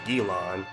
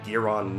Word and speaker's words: Giron: the monster's name if the English pronunciation of the monsters name was gilon the Japanese pronunciation would be giron n since the actors